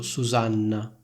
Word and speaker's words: Susanna: Allo stesso modo, in italiano c'è il nome Susanna. Di nuovo, in questo nome ci sono 2 N, io dico Susanna. In altre lingue europee esiste il nome Susanna con una N sola. Sentite la differenza tra Susanna e Susana? In un caso io dico si chiama Susanna, nell'altro dico si chiama Susana. Perfetto, ora facciamo un esempio